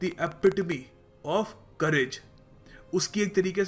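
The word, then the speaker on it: epitome: इसको प्रोनाउंस करने का सही तरीका है एपिटमी। ई पी आई टी ओ एम ई एपिटमी noun है।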